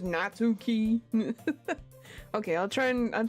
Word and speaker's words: Natsuki: other for so long nauki is pronounced natski oh yeah natski yeah you know what America I I say things an America Way which we pronouncing it on the U so it's just natuki okay I'll try and